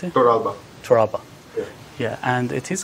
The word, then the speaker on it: Torralba: How do you pronounce it? Toralba.